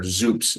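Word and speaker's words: XOOPS: or WordPress or jumla or zups which is spelled x o o PS uh these are all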